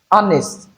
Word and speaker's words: honest: However, there are some words that we have letter H but the letter H are not articulated. Words like honor, our this is not here but honest honorable. So these words have silent letter here.